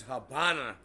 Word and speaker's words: Habana: They just pronounce it that way because they pronounce the V like a B.